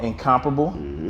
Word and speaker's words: NCMPRBL: So he has his own watch company called NCMPRBL, right?